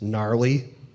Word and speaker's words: gnarly: taught me new vocabulary such as gnarly and my whole life I will remember that it is spelled with a G I know you probably